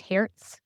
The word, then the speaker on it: Hertz: car agency um h e r TZ it's pronounced Herz um it's someone's last name in German I